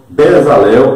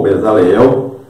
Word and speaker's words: Bezalel: Então veja aí o nome Bezalel ou Bezaleel. Você vê aí como é que se escreve em hebraico, lá no Antigo Testamento, nós estamos falando, né?